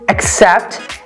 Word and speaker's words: accept: a syllable for example the word um accept we have the word accept and where is the stress on the first see i mean on the second c right except the first one